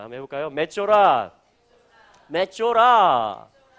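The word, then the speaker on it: מצורע: 자, 맷조라라고 읽어집니다. 한번 해볼까요? 맷조라, 맷조라.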